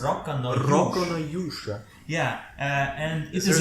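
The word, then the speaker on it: Rokka no Yūsha: How is it pronounced? Rock no Yusha.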